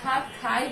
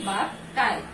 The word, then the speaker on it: ভাত খাই: আমরা মহাপ্রাণ ধ্বনি উচ্চারণ করতে পারি না, আমরা ভাত খাই বলতে পারি না, আমরা বলি ভাত কাই।